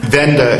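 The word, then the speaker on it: Wende: Venda is it's German word for turning point or change. It's spelled W E N D E. So, think Wendy's, but don't go there cuz they probably have trans fat.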